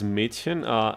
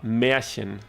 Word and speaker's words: Märchen: Mädchen? Märchen. It's an R like a Richard instead of a D, Dora.